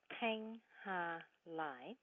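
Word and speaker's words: Thanhha Lai: it really helpful hi my name is tang ha-lai hang with a clear bell sound now in front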